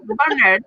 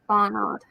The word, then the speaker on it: Barnard: How do you say it again? Barnard. Barnard. I would say Barnard. No, not Bernard. Bernard. I mean, Bernard is posh. Bernard. That sounds a bit American.